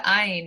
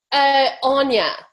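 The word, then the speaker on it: Áine: We're going to go to Ayn. I hope I'm pronouncing that correctly. Hello. Hello. Hey, everybody. Thank you. So I just... Well, how do we pronounce your name? Anya. Anya. It's Gaelic. It's Gaelic.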